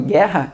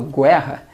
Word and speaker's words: guerra: Porque ali eu não pronuncio U, eu falo guerra, eu não falo guerra.